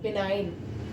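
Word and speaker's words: benign: में जो एन से पहले जी है वो साइलेंट है यहां पर ओके नेक्स्ट वर्ड है बिनाइन बिनाइन मींस क्या होता है दयालु होता है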